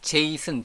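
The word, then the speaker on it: JSON: 그런데 지금은 제 있음 jason 제이슨 j 손 으로 발음하는 제이슨 데이터를 거의 거의 넘버원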